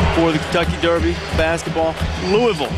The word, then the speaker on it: Louisville: Back in Louisville. Been here a number of times for the Kentucky Derby basketball. Louisville, I think, is the preferred pronunciation by the locals.